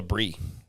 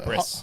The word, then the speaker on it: bris: Oh, I wanna snip talk snip, about- That's called a brie. And I mean a bris.